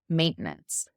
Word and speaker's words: maintenance: Maintenance. It's almost like we've lost the TE in the middle. It's like we've just used it to stop the syllable maintenance.